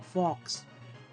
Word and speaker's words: Fox: The Wooper is the favorite Pokemon of YouTuber and Twitch live streamer Tom Fox. His name rhymes with Hawks.